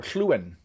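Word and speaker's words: Lluwen: But okay, and I'm sure that they expect you to pronounce their name Lewin, exchange student. However, they have the iconic double L that you see most often in Welsh. And in Welsh, you would pronounce a double L ll. So it would be Llywelyn. Or Llywyn. That's what I mean to say.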